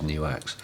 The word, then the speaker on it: NUX: go on the website tells you how to pronounce the name properly and it turns out yes it is newx um chop called Michael